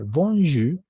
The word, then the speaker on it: bonjour: Entonces aquí simplemente la R se vuelve muda al final. Bonjour, nada más.